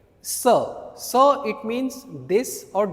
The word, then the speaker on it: ce: Sir. C E. We pronounce it sir.